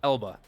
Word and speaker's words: Elba: up i said his name wrong idris elba eba elba i i silent i silented the l anyway he's in that